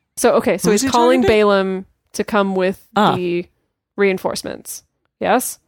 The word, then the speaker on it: Balaam: lot of words Baylor I am correcting you because this is a famous story and everyone pronounces those Balaam and I want people to be able to recognize the story everyone does everyone does